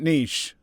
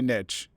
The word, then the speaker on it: niche: And also, yeah, I pronounce it niche. I don't like it when people say niche.